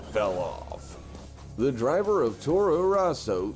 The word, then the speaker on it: Toro Rosso: sebastian bremi and also i wouldn't stress the row in tora rosso it's just tora rosso um but then again